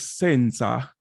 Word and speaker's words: senza: you see the word the word is Senza Senza but you notice as the tech as a as it goes up in Pitch it almost makes the accent on the sa instead of sin Okay so so